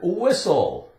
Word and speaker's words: whistle: right Christmas the T is silent we have the word whistle whistle maybe you can